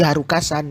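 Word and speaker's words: HALCA: Tentu semua orang tahu Sentimental Crisis atau bahasa Inggris normalnya Sentimental Crisis yang dibuat oleh Halka. Bacanya sih Haruka-san ya. Tapi ya kita pakai normal saja karena kita orang Indonesia.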